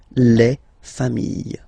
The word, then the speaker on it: familles: Okay, you just add this final S and you get the plural form, les familles. Okay, remember, chien, singular form, chien, same pronunciation, but you put this S. Okay, final S not pronounced.